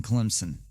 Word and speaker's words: Clemson: is my home state there is no z in clemson it's someone's name and